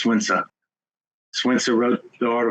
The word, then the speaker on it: Sun Tzu: It's not Sun Tzu, by the way. His name is pronounced Sun Tzu.